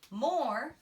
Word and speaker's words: more: Our friend E there is silent. I have to remember by heart that he is silent.